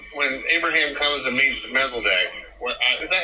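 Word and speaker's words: Melchizedek: So when when Abraham comes and meets Mesc is that how you say his name? Melazdc.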